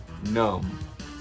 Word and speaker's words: numb: And I'll be numb. You notice how people say numb? They don't pronounce the B at the end of it.